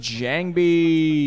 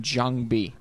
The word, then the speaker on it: JangBi: jangi or Jang B I used to call him Jang B back when I found out that that's actually the way you pronounce his name but I think Jang